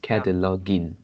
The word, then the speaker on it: cataloging: I mean the last syllable in this cataloging is gin. It's not ging. Mm, It's the same as begin, the second syllable in begin. okay.